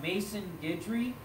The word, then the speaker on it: Maison Guidry: start with is uh mason guidry so mason is spelled m-a-i-s-o-n and then guidry g-u-i-d-r-y okay so mason guidry phenomenal drummer um another